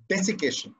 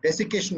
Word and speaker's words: desiccation: central it would be desiccation and yes it's spelled with two c's which i found out